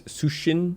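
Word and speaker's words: Cixin: Uh, or I've sometimes heard it as Sushin.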